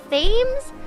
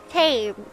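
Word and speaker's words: Thames: a row hey but instead of saying River themes I said River T so I was like a little bit closer now I know to only do my British accent around non-british people apparently it's pronounced the river T why the is it spelled like that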